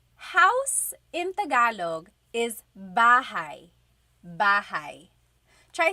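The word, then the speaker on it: bahay: You might notice that the spelling is a y at the end. So it looks like bahi, but it's pronounced bahi. That a y combination is bahi.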